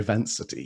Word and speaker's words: Vancity: AI Strategy and Ethical AI Design at AI Vancity. Is that pronounced correctly?